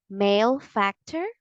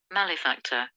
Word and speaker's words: malefactor: this word is it male factor or male Factor the correct pronunciation of this word is malefactor or malifactor malefactor is the American English pronunciation and male factor is the British English pronunciation once again the correct